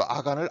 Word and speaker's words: 아간: 그래서 아골이란 고통이라는 뜻이고, 앞서 아간을 아갈로 발음했다 그랬죠.